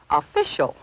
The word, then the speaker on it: official: The second syllable is pronounced fish. And this mark shows where we should accent the word. So, the correct pronunciation is official.